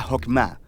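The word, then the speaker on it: חכמה: hacemos que es esta fuerza en hebreo se pronuncia jopma y usualmente se traduce al español como sabiduría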